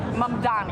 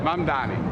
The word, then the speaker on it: Mamdani: Mamdani. Mamdani.